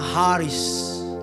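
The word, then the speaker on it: χάρις: aslinya bahasa yunaninya namanya Karis Karis c a a r i s Karis bacanya Haris Karis kalau kau punya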